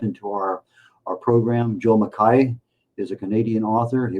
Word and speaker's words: McKay: how you spell it but it is uh pronounced mai which is the original Scottish Highland uh pronunciation for it. U most people will say McKay uh mistakenly including a number of people who have uh the last name.